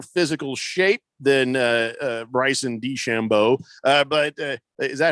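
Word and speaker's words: Bryson DeChambeau: probably in better physical shape than uh uh bryce and d chambeau uh but uh is that how you say his name yeah bryson duchamp yes exactly yeah okay and uh but but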